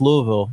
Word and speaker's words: Louisville: right Louisville yeah okay no it's Louisville that's how they say Italy Louisville Kentucky I